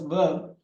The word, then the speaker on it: verb: R is silent there. We should read it as a verb. We should pronounce it as verb.